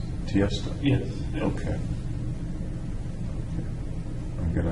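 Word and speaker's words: Tiësto: T.S. Tiesto. He's an electronic. Can you DJ. spell it? Tiesto. So the name is Tiesto. It's not initials. It's Tiesto.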